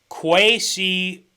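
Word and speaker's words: Kwesi: named uh okay this is how we say quasi okay like the pronunciation k w a y and then c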